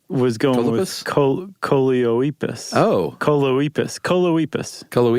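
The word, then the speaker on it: Choloepus: Coleoepus. It rhymes with Bocephus.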